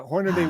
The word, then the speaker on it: Hornaday: Did I pronounce that properly? Horn Hornady. Hornady. The Hornady. Yeah. Hornady Wilderness Society.